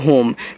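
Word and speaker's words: home: ओ से ओ की मात्रा और एम से आपका मां होम और यहां इस इ का उच्चारण नहीं होता जो लास्ट में आता है और होम का अर्थ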